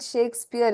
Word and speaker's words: Shakespeare: like this right shakespear so English is very funny you pronounce it as she but you see the spelling is sh a right so let's not look at the English spelling but the pronunciation so you have the sound SH now how do you